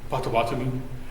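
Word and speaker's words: Potawatomi: member of the nation help me with the pronunciation please photomy is correct I heard it pronounced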